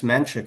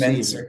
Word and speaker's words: Mensik: I don't think it's Menchik if it was I Ch think it's C. Mensik also.